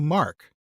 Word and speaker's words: Mark: The Mercians' own pronunciation of that would certainly have been the Mark, and that was no doubt once the everyday term for central England.